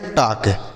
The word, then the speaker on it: talk: आगे लिखा गया है TALK, इसे हम पढ़ते हैं टाक। TALK टाक पढ़ेंगे, इसे टाल्क नहीं पढ़ेंगे बच्चों।